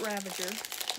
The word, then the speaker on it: Ravager: I'm trying to say her name correctly, I really am. It was years till I realized, wait, there's no N in that name. I've been saying it with an N this entire time.